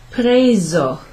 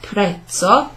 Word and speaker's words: preso: So, preso, preso, not prezzo. No, that'd be double Z, and not preso because there's not a double S there.